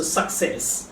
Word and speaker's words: success: খ হবে উচ্চারণটা, খ is suck. So success.